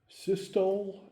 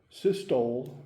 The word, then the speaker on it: systole: You've got 2 things, systole and diastole. Systole, S-Y-S-T-O-L-E. Your book calls it systole, but I've never heard it pronounced that way. You can pronounce it either way you want.